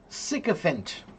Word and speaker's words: sycophant: Sycophant. I know it looks like psychopant, but it's pronounced sycophant.